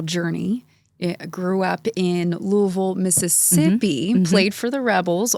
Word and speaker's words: Louisville: I grew up in, you mentioned my hometown, and it's spelled like Louisville, but it's pronounced Louisville.